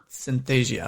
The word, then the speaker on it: Synthesia: using like you said synthesis how do you pronounce that one website synthasia i believe it's called synthesia okay perfect so basically i did consulting work